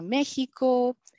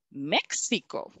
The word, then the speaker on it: México: no de otra manera yo porque lo pronunció como si fuera una jota y no como una equis no entonces es muy